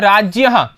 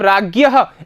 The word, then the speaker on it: राज्ञः: राज्यहः ठीक है राज्य अब देखिए मैं राज्यहः बोल रहा हूं इसका उच्चारण यही होता है लेकिन आप जो आपकी आपकी भाषा है या आपका वातावरण है उसके हिसाब से आप राज्ञः ऐसा बोलेंगे। ठीक है ना?